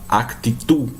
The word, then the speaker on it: actitud: Esse D não é pronunciado. Então, por exemplo, eu vou falar actitud.